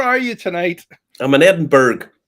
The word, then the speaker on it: Edinburgh: I'm in Edinburgh. Edinburgh as it's normally called. It's pronounced the same way as Pittsburgh.